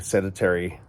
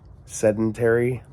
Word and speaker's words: sedentary: day long or just sitting seditary is that how you say it sedentary yeah they're saying the